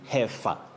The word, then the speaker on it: heifer: here we say heifer. Heifer. Yeah. Not hef- heifer. Okay. Don't pronounce that letter I.